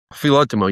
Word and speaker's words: Filotimo: foundation, someone says to me, how do you pronounce that? So Filotimo, yeah.